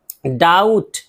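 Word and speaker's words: doubt: बी भी silent रहेगा बी टी अगर साथ में आ गया है तो डाउट शक डेट डेट इसमें बी है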